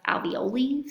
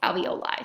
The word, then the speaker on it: alveoli: They kind of resemble little clusters of grapes, and they're called alveoli. Some people want to pronounce them sometimes alveoli. Sounds like ravioli, but I was always taught it's alveoli, so that's how I pronounce them.